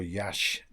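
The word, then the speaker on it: Iași: to another place first before Yash, which is spelled Yasi in that's a quite a big city actually.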